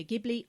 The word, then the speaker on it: Ghibli: it Studio jibli or you can call it Studio gibli I have alternated between the two in the past I think jibli is kind of the main pronunciation so that's what I'm going to go with for these episodes but it doesn't matter if you call it gibli or jibli and I'm going to